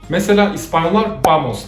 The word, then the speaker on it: vamos: shamar other difference is, in some latin american countries people drop the " s" letter at the end of the word In spain it would be " Vamos " S is being